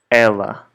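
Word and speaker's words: ela: other english-speaking countries so Ella the name of a girl for example has the same pronunciation as the pronoun in Portuguese so ella ella okay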